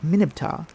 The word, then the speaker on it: Mer-Neb-Ptah: It was pronounced Minib-Ptah, the R being dropped in early times.